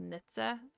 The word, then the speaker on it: Knittseh: it can be quite it looks like quite a difficult name to pronounce it's literally just nitza um a bit of a